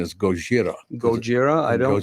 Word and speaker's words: Gojira: Godzilla and and why didn't we keep the pronunciation as goira goira I don't Gojira was the original Godzilla sounds cooler in English